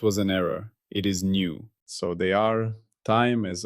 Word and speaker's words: nu: Its symbol is the Greek letter nu, pronounced new, like new. I have mistakenly pronounced this as V. That was an error. It is nu.